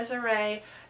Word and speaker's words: Cesare: display organized by Archbishop Cesare (pronounced Tchay Za Ray) Nosiglia (pronounced Nozigleea) of Turin."